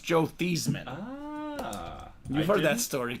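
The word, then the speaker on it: Theismann: say about 70% of the time I pull thyman I was trying to not say it this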